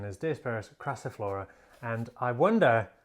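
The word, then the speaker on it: Diospyros crassiflora: species gabon ebony um but indeed the correct pronunciation is dispersed craciflora and i wonder how long i've been mispronouncing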